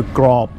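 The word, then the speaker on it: กรอบ: We know that with a mid-class initial consonant and a dead syllable, we're going to get a low tone. So grob, so mu, grob, and that means crispy pork.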